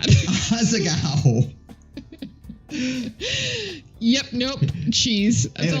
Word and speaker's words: Asagao: I'm sorry, how do you say it? Is it? Asagao. It's Asiago, I swear to God. Asagao.